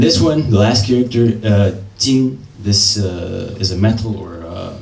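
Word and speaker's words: 金: So the top, the blue part, is a pronunciation, jin, the whole character is pronounced jin.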